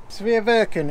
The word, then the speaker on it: Sveaverken: up you set it up down here nice severe virgin is how you pronounce it it's the f-100 steering kit and